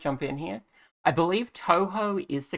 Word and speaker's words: Touhou: I'm going to jump in here I believe Touhou is the correct pronunciation I did some searching real quick uh people say to who and uh how how and all sorts of